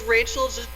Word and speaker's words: Rajchel: do you pronounce it it's Rachel just like the first name it even translates to the same oh okay Rachel okay